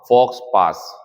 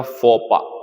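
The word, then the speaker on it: faux pas: पहला question number छ इसे फॉक्स पा फॉक्स पास या फोपा ज्यादातर इस पढ़ते ठीक है ना एक्स और एस साइलेंट होता है इसका तो फॉक्स पा भी कह सकते हैं फपा बढ़िया है वैसे यह एक फॉरेन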